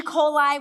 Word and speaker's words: Coli: My name is Coli, spelled like E. coli without the E, but pronounced Coli.